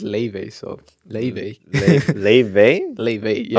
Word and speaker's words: Laufey: Damn, Laufey, or I guess if you pronounce it as it's written, Laufey, but Oh. yeah, but Yeah. she says that it's pronounced Laufey, so Laufey.